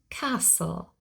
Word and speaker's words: castle: the silent T here we always spell the letter t but we never pronounce the T and that is the